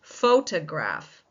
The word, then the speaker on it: photograph: This is photograph. Photograph. Which one is taking the stress? If you said the first syllable, you are absolutely right.